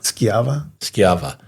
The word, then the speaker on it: Schiava: Is this Scavia? Schiava.